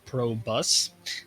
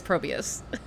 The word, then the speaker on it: Probius: uh yellow owls okay so pro pro bus no probius stop yourself okay probius i need to need the team actually to tell me how it should be pronounced but let's stick with probius listen i've already spoken to them and it is probius okay my bad then